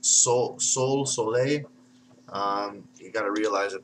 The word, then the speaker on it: Sol: Now, it could be pronounced Sole.